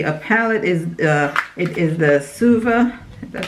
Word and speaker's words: Suva: It is the Suva, that's how you say it, Suva Beauty palette.